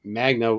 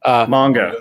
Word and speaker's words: manga: but I don't think Magna. I don't even pronounce it properly, right? So like Mega, whatever. Manga. Yeah. Manga.